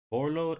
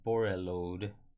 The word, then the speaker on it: Borreload: It's Borload. Is it Borload or Borreload? I think the E is silent.